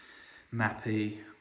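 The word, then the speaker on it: Mapei: So I have gone back to using mapai mapi mappy. There's so many versions of the name that people the way they pronounce it, but I've always called it Mappy.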